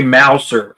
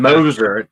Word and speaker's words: Mouser: I was saying Moser, and like people were like, "It's wrong." I'm like, "What do you mean it's wrong? That's how it's spelled." And they're like, "No, it's Mouser."